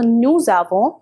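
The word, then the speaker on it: nous avons: that means we have now here again the s needs to be pronounced because of the liaison so no zavo wuz away that means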